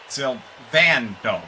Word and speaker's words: Sando: Sando is how you pronounce that.